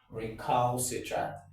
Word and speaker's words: recalcitrant: oh, that individual is recalcitrant. Remember, it is recall, not recall. Recalcitrant.